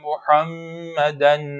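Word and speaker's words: محمدًا: ulusları okuyoruz Muhammed enne Muhammeden bu kelimeyi köşedeki Muhammed gibi türkçeleşmiş haliyle okumak ataolur Muhammeden a harfi biraz daha ince Muhammed ve mimari olarak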